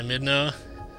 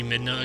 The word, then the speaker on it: Midna: we will never see midna again midna's just like the perfect name to pronounce that last a all perfect like like in hey Santa by Wilson Phillips the